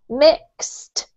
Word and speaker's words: mixed: Now, Luis, with these EDs that we have here, they're actually pronounced as if they were T's, okay? So we've got mist, mixed, mist.